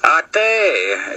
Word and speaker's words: Ate: To non-Lakota or non-native people, it would be the word ate. Like you just ate food. Or like the word hate, except you take out the H and you have A-T-E. Ate, that's how you say it.